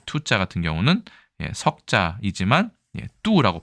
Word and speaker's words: 妬: 질투할 때 투를 중에서는 뚜라고 읽어요. 비슷하죠?